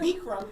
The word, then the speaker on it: Bikram: Bikram. Bikram yoga, Bikram yeah. yoga. That's how you pronounce it.